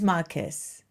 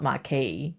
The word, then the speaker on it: marquess: It's Marquess. Marquess. It's not Marquis.